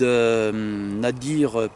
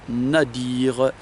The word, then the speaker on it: nadir: sur le site zad nadir point horgen à dire comme ça se prononce n a d ir on relira aujourd'hui toutes